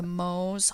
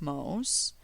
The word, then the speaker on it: Mohs: safely cleansed in water this is where the mohs hardness scale comes in and it's spelled m-o-h-s this scale was developed in 1822 by frederick mose and it lists the relative hardness of various